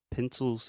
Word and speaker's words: pencil: So a good way that I think about remembering this is I used to work for a company called Pencils of Promise. So pencil, that's the schwa.